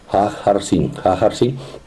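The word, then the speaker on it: Haghartsin: Bueno, este el monasterio podría pronunciarse Hajarsin, el monasterio de Hajarsin, debe ser pronunciado porque la H ellos la pronuncian como una J. Hajarsin.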